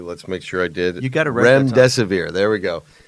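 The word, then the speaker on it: Remdesivir: to be talking about is a drug called Remesae. It's made by Gilead Science, and I always pronounce it incorrectly. Let's make sure I did rem desave.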